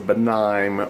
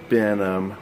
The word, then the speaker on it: Benim: It's not Benign. It's Benim.